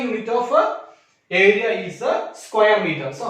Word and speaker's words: square meter: That means we will not tell this one as a meter square. That is wrong. We have to pronounce this one as a square meter.